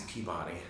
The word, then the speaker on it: Peabody: Oh, that's like how we pronounce Peabody in Boston. It's Peabody. It's not Peabody.